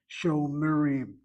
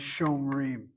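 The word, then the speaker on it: שומרים: Again, you read it as Shomerim. You read this as Koraim. Don't read it as Shomrim, which is the tendency of many to say it as Shomrim. Shomerim is Hebrew.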